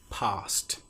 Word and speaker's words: passed: will say this car passed me PA SS e D past some other examples are itched scratched you will notice in these examples that we don't pronounce the e sound at all the T is almost